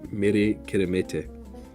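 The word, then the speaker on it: Meri Kirihimete: You say Mere Kiremete. Which sounds a lot like Merry Christmas, and that's how I can remember it.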